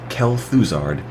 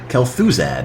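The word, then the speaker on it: Kel'Thuzad: Kel fards bony revenge is that how you pronounce that name Kel thard Kel thuzad yeah got an extra R in there did finals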